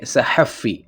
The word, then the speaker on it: صحفی: کہ جرنلسٹ اس کو ہم کہیں گے صحفی، بس الف کا فرق ہے، آپ نے الف نہیں لگانا.